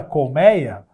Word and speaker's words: colmeia: a mesma coisa com a palavra Colmeia Olha só Colméia e era escrito com acento assim ditongo agora não tem mais o acento mas ninguém vai pronunciar até apaguei tudo aqui trocar de novo ninguém vai para anunciar ai com 6 com o meio e seu e-mail continua Colmeia a pronúncia não se altera beleza outra parada aqui